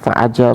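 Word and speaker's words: فأجاب: fatawa alhadisiyah itu bukanlah itu dibaca faajab Iya.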